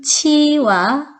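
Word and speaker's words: 七: 사람들은 왜 싫어할까요 그것은 일곱 7의 발음 치와 환하다 할 때 발른 치가 발음이 비슷하기 때문에 일곱 7자 보면 어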